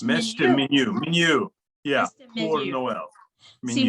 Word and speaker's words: Minuit: will be Andrew Welch, featuring Charpentier's Messe de Minuit pour Noël. I do not speak French, so. Nice, good job there. Messe de Minuit, yeah. The Falmouth Chorale requires. Minuet, is it minuet? Minuet? It's Messe de Minuit, Minuit, yeah, pour Noël.